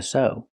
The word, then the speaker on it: sew: So remember when you have ew at the end of the word you have three possible pronunciations. The most common is oo like new but sometimes you have the pronunciation u like few and the least common is the long o like so.